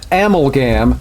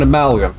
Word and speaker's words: amalgam: that person went on to call it an ammo gam instead of an amalgam and i said you know what i've had